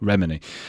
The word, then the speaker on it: Remini: Uh Jennifer Roberts asks, how realistic is Leah Remini's I I I can never say her name. What is it again, Chris? Leah Remini. Leah Remini. You put it on the first syllable, Remini.